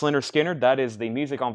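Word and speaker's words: Lynyrd Skynyrd: Leonard Skinner, pronounced Leonard Skinner, that is the music on vinyl version.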